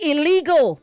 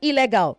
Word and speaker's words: illegal: Say illegal, not illegal. Illegal.